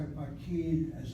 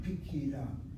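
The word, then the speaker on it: פקידה: That's why pakid, as a feminine singular, is not pakida, but pikida, pikida. The kamatz reduces to a shvana.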